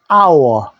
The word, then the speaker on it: hour: 못생긴 오리 새끼입니다 한시간 on hour 무음입니다 소리가 안 나기 때문에 요자로 치야 됩니다 an hour 2 hours 두시간